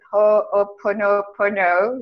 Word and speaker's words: Ho'oponopono: And as I'm saying this, I'm thinking about I never know how to pronounce it. Ho'oponopono, you know, the Hawaiian technique.